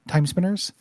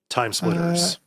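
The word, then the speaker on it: TimeSplitters: That feels a little bit like Time Killer or Time Spinners. A little bit or whatever that game is. I don't know what that is. Time Crane. What? I'm saying it wrong. The PS2. Time Splitters.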